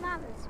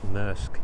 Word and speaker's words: Maersk: Is it Maris? Because I call it Maris. Maersk, you say it. What? Maersk. Oh. You can say it however you want to say it. That would make sense to you. I think that's how it's pronounced, Maersk.